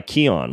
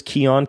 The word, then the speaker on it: Kion: the Ben Greenfield Fitness Show, if I can pronounce the name of my own freaking show, it's brought to you by Kion. What is Kion?